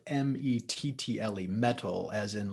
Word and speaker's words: Mettle: yeah thank you yeah so mental health first it's spelled m-e-t-t-l-e metal as in like one's inner strength one's inner